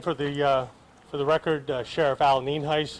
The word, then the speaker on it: Nienhuis: Again, for the record, Sheriff Al Nienhuis. It's spelled Nienhuis, and it's pronounced Nienhuis.